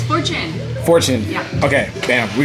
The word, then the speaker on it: Fortune: Is it Fortune? Fortune. Yeah. Fortune? Fortune. Fortune. Fortune. No, it's Fortune.